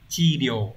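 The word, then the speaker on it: 治療: Thì trong trường hợp chữ trị trong từ trị liệu này sẽ được đọc là chi điều, đọc là chi chứ không đọc là gì nhá.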